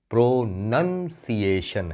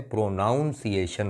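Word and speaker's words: pronunciation: Spelling भी यही है, PRONUN, प्रोनंसिएशन है, प्रोनाउंसिएशन नहीं है।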